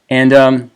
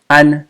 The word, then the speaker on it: 安: Now the tone is different, right? This one is an first tone, this is an fourth